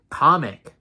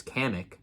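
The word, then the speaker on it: Kamek: and they brought back comic that's how they pronounce it in the in the trailer comic I just pronounced it as kamik uh they're bringing kamik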